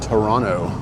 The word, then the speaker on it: Toronto: It's actually pronounced Toronto by locals. The second T is silent.